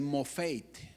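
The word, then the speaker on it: מופת: Un milagro en el original se pronuncia así, fíjese, mofeit.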